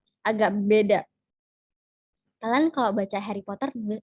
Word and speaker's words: Harry Potter: Harry Potter. Harry Potter. Harry Potter. Harry Potter. R-nya cenderung hilang. Oke, cenderung tidak diucapkan.